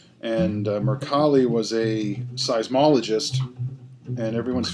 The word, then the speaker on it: Mercalli: your colleague and actually a Italian pronunciation because it's an Italian name and Mercalli was a seismologist and